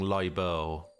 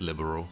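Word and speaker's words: Liberl: pronouncing that word right i was saying libel for a long time and then i was told no it's just liberal so i was like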